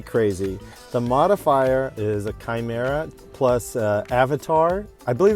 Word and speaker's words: Chimera: And I've been pronouncing it wrong. It's not Chimera, it's Chimera.